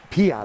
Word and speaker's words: Piat: Piat, I think. Piat? Yep. Okay, just like it's spelled.